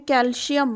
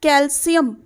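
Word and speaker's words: calcium: This is generally जो बच्चे बोलते हैं इसको हम बोलते हैं कैल्शियम, but this is नॉट कैल्शियम, this is कैल्शियम।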